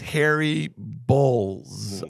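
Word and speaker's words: Harry Bōlz: to Harry um b-o-l-z how would you pronounce an o with like a thing a line over it because Bulls okay so his new name on Twitter is Harry Bowles I think is how you would pronounce it so um hypocrite and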